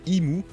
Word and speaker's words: Im: Son nom An ou Anu ressemble étrangement à Im qui se prononce aussi Imu en japonais Romaji.